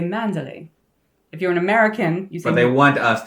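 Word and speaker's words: Manderley: Is it pronounced manderlay or mandal? Neither. It's manderly.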